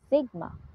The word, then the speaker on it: sigma: is the standard deviation Whose symbol is o pronounced as Sigma Here are the steps